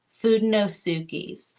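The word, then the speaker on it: Fudenosuke: it's just like it let me spell it it's just like it sounds f u d n o s u k e food no sui and the nib is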